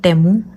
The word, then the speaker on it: Temu: तो जैसा कि मैंने पहले एक वीडियो अपलोड की थी टेमू के बारे में, तो मैं आपको क्लियर कर दूं कि इसकी प्रोनाउंसिएशन है टेमू, ना कि टीमू।